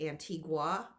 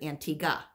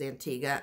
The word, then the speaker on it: Antigua: And I always pronounced it Antigua. And the locals there said that, and our tour guide said, well, a lot of people pronounce it Antigua, but it's and locals pronounce it Antigua.